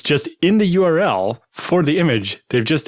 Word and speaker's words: URL: people have you ever ever heard anyone else pronounce URL as Earl no okay not just me then but I've